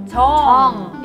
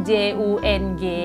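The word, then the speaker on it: 정: Chong. Iya. Chong. Chong ini spellingnya kadang J-U-N-G ataupun J-E-O-N-G. Jadi kalau misalnya ketemu orang Korea yang marganya J-U-N-G atau J-E-O-N-G, bacanya Chong. Mr. Jong. Jangan Jung atau Jeong.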